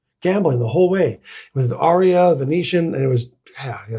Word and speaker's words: Aria: Aria is how ChatGPT is saying to pronounce it.